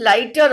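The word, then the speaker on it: lighter: Then next one, लाइट में भी GH is silent letters. GH की साउंड नहीं आ रही है. लाइट एंड इन लाइटर also GH is silent.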